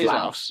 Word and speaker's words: Laos: Do you pronounce the Laos? S? It's Laos.